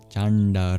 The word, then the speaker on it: Cāṇḍa: Finally, the dots under the N and the D in Chanda indicate that they're not regular as you might understand them in English. You curl your tongue back to produce these sounds.